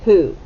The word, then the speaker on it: who: you hear the h you hear the h and then you don't hear long o o and you don't hear short o ah you hear ooh and that is written as a double o ooh as in school okay i know it's